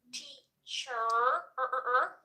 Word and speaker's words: teacher: So, we're not going to try and pronounce that R. Teacher. Teacher sounds more American. Teacher. Teacher. Teacher. Cut that R. It sounds way more English.